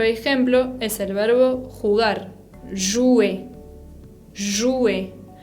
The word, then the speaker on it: jouer: También otro ejemplo es el verbo jugar, jouer.